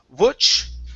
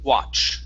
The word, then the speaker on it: watch: Instead of wutch with a w, it's wa, watch.